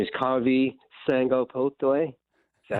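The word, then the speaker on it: Sagapolutele: His name is Carvey Sangopotle.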